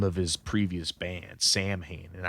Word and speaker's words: Samhain: of his previous band samhain and i think it's pronounced samhain um like in gale or whatever celtic gaelic uh it's pronounced sound and from here on